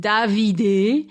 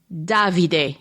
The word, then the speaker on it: Davide: He said his name Davide, but he fixed it later in the book to say Davide, which is how you say the name. Davide in Italian.